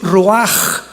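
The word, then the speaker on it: רוח: La palabra para espíritu en el hebreo es la palabra que es roaj, que se escribe rua con ch, pero repito, ese pronuncio pronuncia como J.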